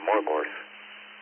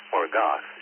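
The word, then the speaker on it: Morgoth: the forces of Valinor, but the forces of Morgor. Thank you, Alex. Um, that's obviously Hastings. Well, I mispronounced that second group in C. It's not more gorge. It's more goth.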